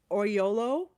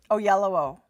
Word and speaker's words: Oyelowo: Davis Oyolo. No, I'm not pronouncing that right. Oyelowo. Oyelowo.